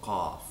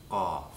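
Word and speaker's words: قاف: It's called Qaaf, Qaaf, Qaaf. Qaaf is a stop. So, once again, bring the root of your tongue to the back of your throat and stop all air from moving out.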